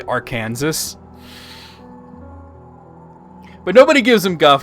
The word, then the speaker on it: Arkansas: When we learned the states and everything, they told you, now, look, it sure as hell looks like it says Arkansas, but it's Arkansas.